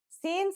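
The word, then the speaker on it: سين: let's start with sin scene sounds just like the English s it's very easy to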